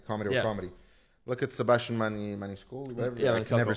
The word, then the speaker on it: Maniscalco: Look at Sebastian Maniscalco, whatever. Yeah, I can never say his freaking last name. Maniscalco.